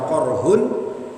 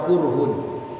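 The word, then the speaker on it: قرح: qiraah, ada yang membaca korhun, ada yang membaca kurhun. Bifathil qaf, qafnya di fathah, atau wa dhammiha, ada juga yang membaca dengan dhammah, korhun atau kurhun.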